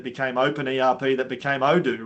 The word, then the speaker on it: Odoo: I call it Odoo. Other people call it Udo. Yeah, Udo is the way I say it.